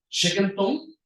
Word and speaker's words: Chee Kung Tong: Bueno, check and tone es la manera cantonesa de pronunciarlo, la manera de chino Putonghua es de montado.